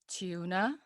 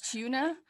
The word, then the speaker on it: tuna: do you say it there are two ways of saying it i think it's is it either tuna or tuna t u becomes like two exactly like chew the face chew the fat